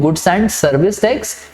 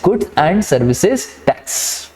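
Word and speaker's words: Goods and Services Tax: ठीक है, बहुत सारे लोग बोलते हैं गुड्स एंड सर्विस टैक्स, that is wrong. The correct pronunciation is गुड्स एंड सर्विसेज टैक्स।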